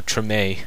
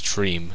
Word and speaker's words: Treme: It's sad, and they have also done a TV show, Treme, that I thought was Treem. It's like I thought it was Treem, but it's actually Treme. Thought you pronounced it Treem, but it's Treme.